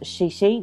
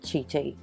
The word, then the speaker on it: Chi Chi: I'm using heof now it is pronounced shishi not chii I've gotten that wrong